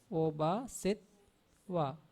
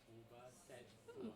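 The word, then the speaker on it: obhāsetvā: So the first T is pronounced with the vowel before set. Then Oba, set, wa.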